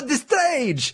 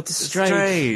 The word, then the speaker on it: Destrage: I would never have gone with Destrage had I not been at a gig and heard, you know, the wonderful little guys up there in their Italian accents going, "Hi, we are Destrage!" And it's like, Destrage.